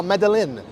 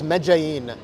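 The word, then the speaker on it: Medellín: It's it's it's it's spelled it's spelled like or at least when I look at it, I'm like, "Oh, Medelin." No, not even close. It's Mein.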